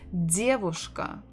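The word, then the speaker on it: девушка: the dear voice Ka so stress the first syllable diabushka diabushka this one is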